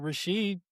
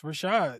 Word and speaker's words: Rashad: But she got it out of a Muslim book and instead of pronouncing it Rasheed, she was like, "It's Rashad."